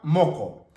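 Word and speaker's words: muqu: Tenemos la primera palabra, moco. Moco. ¿Por qué lo pronuncio con O? Moco. Porque aquí tenemos la presencia de la Q. Por lo tanto, esta U se pronuncia como la O.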